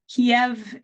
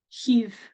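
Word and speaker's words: Kyiv: government ke ke not Kev is the Russian pronunciation heave is more of the closer to the Ukrainian pronunciation um hence my difficulty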